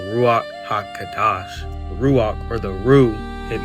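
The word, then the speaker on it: Ruach HaKodesh: And it's actually pronounced as the ruach kadash or in the full term the ruach haka kadash ruok or the ru it means this.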